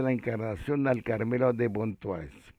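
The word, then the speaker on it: Pontoise: a María de la Encarnación al Carmelo de Pontuá. Ponto se escribe Pontois que quiere tanto.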